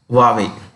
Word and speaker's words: Huawei: you pronounce this this is pronounced that's a pronunciation huawei okay why don't you write this this is a logo huawei this is one of the worlds considered to